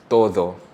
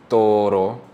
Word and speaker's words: todo: here, we have todo, but if I pronounce it with an English D to a Spanish R, it will sound like toro, T-O-R-O, which is a bull, right? So it's very important to pronounce your D's properly because toro and todo are 2 different words completely.